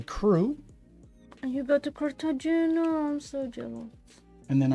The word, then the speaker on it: Cartagena: How do you pronounce Cartagena? Cartagena. In Spanish? Sí. Cartagena.